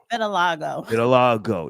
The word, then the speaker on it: vitiligo: Does Beyoncé have, how you pronounce it? Vitiligo.